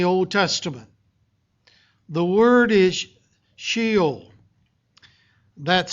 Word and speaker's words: Sheol: The word is Sheol. That's spelled S-H-E-O-L.